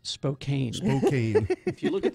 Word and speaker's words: Spokane: So I went to Spokane this weekend because my niece was graduating from Gonzaga. Go Bulldogs! I spent some time in Spokane when I was a very young person.